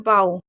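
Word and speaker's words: bow: अब यहां पर देखिए एक और चीज बता दूं ओ डब्ल्यू का उच्चारण धनुष का अर्थ है बो लेकिन बी ओ डब्ल्यू जैसे हैं बाऊ इसका मतलब होता है झुकना तो इसके दो मतलब होते हैं।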